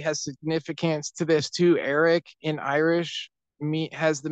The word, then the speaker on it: Éraic: Eric in Irish mean has the meaning of it's